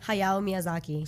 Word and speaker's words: Hayao Miyazaki: And did I pronounce his name right? Hayao Miyazaki.